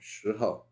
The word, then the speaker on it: 时候: for shihou, is that the tone doesn't really matter all that much as shihou. The tone that only matters is the first one. But generally, I pronounce it with a fourth tone, shihou.